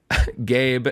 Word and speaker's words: Gabe: Gabe, and then I love they give a pronunciation key, and it just says pronounce like the word gay. Then you add a B sound.